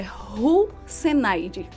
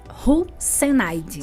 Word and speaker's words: Russenaide: Então, a pronúncia é Ruzenaide. Ruzenaide. Só que não para por aí. Não. É Ruzenaide. Ruzenaide.